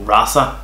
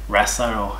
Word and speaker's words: RASA: f2 schmidt astra graph which we call raza down here in australia raster or if you like to pronounce it already have an